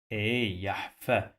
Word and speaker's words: يحفظ: The sound of this letter doesn't exist in English. You must use your tongue to touch your upper teeth to pronounce it. Okay, it's a strong the, but it is not the. It is the.